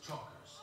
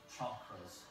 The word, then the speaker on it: chakras: This man is trying to balance his chokers. Actually, it's pronounced chakras.